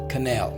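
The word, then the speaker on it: quenelle: we have is uh canal it's q-u-e-n-e-l-l-e is pronounced as canal right a dumbling made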